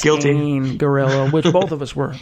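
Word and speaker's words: Scangarello: pronouncing his name wrong it's not scandal it's guilt in gorilla with both of us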